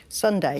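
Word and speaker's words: sundae: Although it's spelt differently, the name of what dessert made from ice cream, fruit and nuts sounds the same as a day of the week? Sunday.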